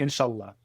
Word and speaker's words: inshallah: People always want to because they hear Allah and they're like, "Ah, inshallah." It's actually inshallah. It's in the middle.